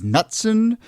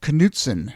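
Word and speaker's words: Knutson: and in that episode I pronounced her last name as nutson um and at the time a number of people wrote in to say that I had pronounced that incorrectly and then I forgot to fix it in the rerun so it was a nice way to end 2020 uh and go into the new year with people telling me that is actually pronounced kuten which is a very Minnesota way of pronouncing it and you know look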